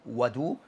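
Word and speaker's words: وَضوء: As for what is called what is pronounced as wadu or wudu, then this is concerning that the water.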